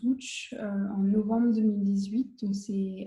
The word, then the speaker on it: Łódź: Donc, je me retrouve à Lotz, qu'on prononce Łódź, en novembre 2018.